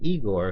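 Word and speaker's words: Ygor: Frankenstein's assistant was named Prince there was a character named Igor who showed up in the third film son of Frankenstein but his name was actually pronounced I Gor he wasn't a lab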